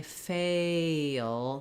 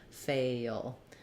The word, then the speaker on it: fail: when I say versus E A is a little higher and my tongue is tense e is a little lower and my tongue is relaxed so I would say to get the difference between fell and fail practice just saying Fay the first part of fail and then notice how as I say fail there's even more gliding because I'm going to kind of a little dark schwa before my L here fail so I've written it here